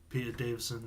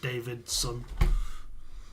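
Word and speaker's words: Davison: knows how to say Peter Davidson name right is not David's son like some people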